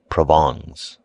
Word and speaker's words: Provence: He became subservient to the French element and his wife's relatives from Provence, pronounced Provongs.